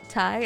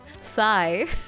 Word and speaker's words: Thai: Thai curry I always I always mispronounce Thai I say Sai I confuse so many